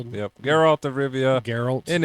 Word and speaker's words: Geralt: So, we've got Geralt.